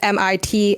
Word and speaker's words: Mitski: Laurel Hell is right, but Mitski is Mitski. S-K-I.